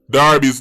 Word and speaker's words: Derby: up the DAR do d e r b y Jamaican said Derby but when time the football club a so that means pronounce Darby's do you want to